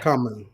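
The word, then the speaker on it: Khaman: Yeah, you said common. Let's play it one more time for the listeners on online and on the pod. is my last name. Yeah. Common.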